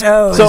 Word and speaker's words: Oz: It's it's like it's spelled Oz, but he says O's, right?